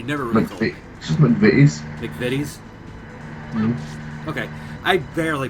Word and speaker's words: McVitie's: it correctly he never looked they just movies McVitie's okay I barely mispronounced it at least okay I love you said McVie teens lawyer remember American English British English tightest of